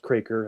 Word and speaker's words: Kroeker: my YouTube channel Craker and it's a weird spelling. It's K R O E K E R but it's pronounced Kraker. That's how we say it in Manitoba.